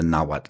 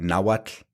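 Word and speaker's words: Nahuatl: right off is the the mispronunciation of the TL right so you'll hear naad Ketel koad um you know they make it rhyme with bottle like Axel lottle um and it what it does is it creates two sounds instead of one right that the TL should be one sound so do you want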